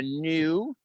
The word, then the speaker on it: gnu: Or a gnu is an animal with a silent G in it too.